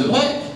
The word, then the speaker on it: de Broglie: Je vous donne l'exemple de Breuil, qui a, bon ça s'écrit de Broglie, mais bon, ça se prononce de Breuil, qui a révolutionné la physique, mais qui était à la base professeur d'histoire-géographie.